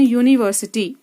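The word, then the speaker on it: university: यूनिवर्सिटी, इसमें हमारा you vowel है, लेकिन जब हम इसको प्रोनाउंस करते हैं तब इसकी ध्वनि स्वर की नहीं आ रही।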